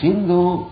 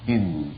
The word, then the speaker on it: Sindhu: account of deliver Sindhu they pronounce saw as o so the Sindhu was mispronounced as Hindu and the side of